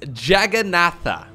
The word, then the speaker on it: Jagannatha: if i'm not mistaken the way you pronounce this is jagannatha jagannatha l e i'm